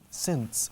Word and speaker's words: sense: Sense. Se escribe sense. S-E-N-C-E. And the pronunciation is exactly the same as 2 other words.